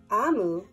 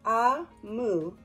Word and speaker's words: Omu: Note to the reader: Amu, pronounced Ah-mu, is the Igbo term for queen.